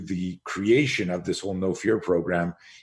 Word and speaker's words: Know Fear: Again, for those of you on just listening to audio, No Fear is spelled KNOW, fear.